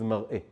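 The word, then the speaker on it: מַרְאֶה: And that word is mar'a versus mar'eh.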